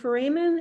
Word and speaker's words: foramen: Foramen is singular, and then foramina would be plural.